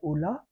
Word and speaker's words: Ulaa: So we have even introduced a latest browser called Ola, which Mm-hmm.